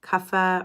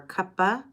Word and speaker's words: Kapha: you can repeat it kapha or kappa I've had plenty of teachers in my program say it doesn't matter how you pronounce it because it's pronounced differently in different parts of India so it's Kappa ka